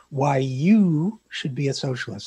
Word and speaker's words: Why You Should Be a Socialist: wrote a book called why you should be a socialist I am pronouncing that correctly with the emphasis on the you right yes big yeah okay well you should